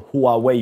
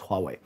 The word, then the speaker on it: Huawei: this one here is a Huawei or Huawei you might pronounce it as but we teach Chinese here so we pronounce it as Huawei okay now uh this